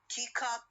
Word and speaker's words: teacup: Two nouns, if the compound word consists of two nouns, so it normally has the stress on the first element.